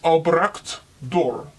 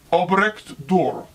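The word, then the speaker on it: Albrecht Dürer: welcome Obrecht door guten morgen my name is Obrecht door can you say my name Obrecht door Albert's door I grew up in Nuremberg Germany during the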